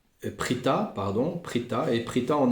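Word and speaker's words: פריטא: Ben, ouais, c'est comment dire, il le dit là aussi, donc de la manière dont s'écrit Prouta, hein, euh, Peresh Yud Tet Aleph, eh bien on peut aussi dire Prita, pardon, Prita, et Prita en araméen ça signifie ouvrir.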